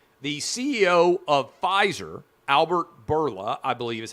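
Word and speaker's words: Bourla: covid booster shots the ceo of pfizer albert berla i believe is how you pronounce his name today came out and announced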